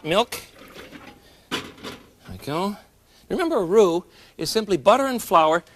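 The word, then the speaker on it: roux: I go remember a rue is simply butter and flour mixed together so that you can use it as a thickening agent.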